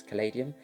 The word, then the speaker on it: Caladium: caladium rosebud orcladium rosebud however you choose to pronounce it i personally think it's calladium based on the spelling but i have had it be called cladium so whatever you choose